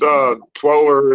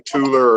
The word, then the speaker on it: Twooler: It's Twoler. It's actually however you want to pronounce it. You could be Tooler or Twoler. I call it Twoler.